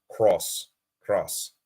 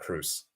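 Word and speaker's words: Kroos: It's pronounced Tony Cross, not Cruz.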